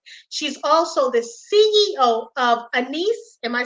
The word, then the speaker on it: Anise: She's also the CEO of Anise. Am I saying it right? Anise.